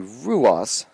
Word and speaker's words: Ruas: So Charlie Ross was offsides. It's actually Ruas, looking at the pronunciation for the freshman from Wilmington, Delaware.